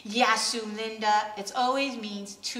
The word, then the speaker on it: Yasou: So I decided to just do Y-A-S-O-U, and I specifically wanted to bold the YA, so it's almost like helping you to pronounce it.